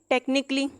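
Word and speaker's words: technically: अब नीचे टेक्निकली। टेक्निकली। अब ए यहाँ पे प्रोनाउंस नहीं किया जाएगा।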